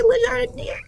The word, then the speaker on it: Le Jardinier: I don't know how to say Le Jardinier.